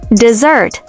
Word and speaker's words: dessert: Dessert, with the stress on the second syllable, means sweet food, like cake or ice cream.